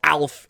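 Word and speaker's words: Aelf: a e LF and they pronounce it like the funny little alien man that ate cats back in the 80s when words that start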